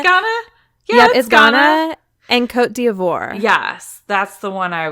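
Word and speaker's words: Côte d'Ivoire: you say that again coat duh what it's Cote d Ivoire oh you wrote it phonetically the line above what I was looking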